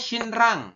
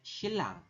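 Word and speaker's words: 신랑: Tulisannya shinrang, tapi kita bacanya shilang.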